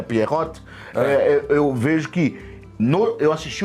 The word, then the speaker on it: Pierrot: Agora, esse Pierrot que você falou, até a sua pronúncia deve ser mais correta, é Pierrot, eu vejo que eu